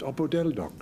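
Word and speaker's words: opodeldoc: about opo deloc Patrick that's exactly how it's pronounced oppodeldoc it's a Persian word of course medieval Persian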